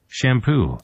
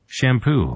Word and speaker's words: shampoo: 요즘은 뭐 샴푸를 안 쓰시는 것도 약간 유행처럼 번지기도 하는데 샴푸, 영어로 샴푸가 아니겠죠. 뭘까요? shampoo, 이렇게 됩니다. shampoo, 이렇게 샴푸가 아니라 뭐라고요? 샴푸.